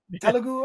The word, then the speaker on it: Telugu: Telugu, I believe it's pronounced.